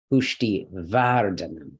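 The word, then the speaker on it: पुष्टिवर्धन: last one all right no this is a light syllable okay again DH is one letter VAR okay here we got our heavy syllable consonant vowel consonant so pushti vardana yeah and feel free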